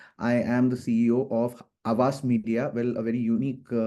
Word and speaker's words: Havas: organizations, and currently I am the CEO of Havas Media. Well, a very unique name because it is spelled as HAVAS, and I have not coined it.